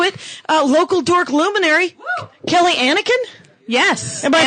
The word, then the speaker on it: Anneken: Local dork luminary, Kelly Anneken? Yes. Am I pronouncing that? You're pronouncing it correctly. That is exciting, much like the Star Wars character Anakin.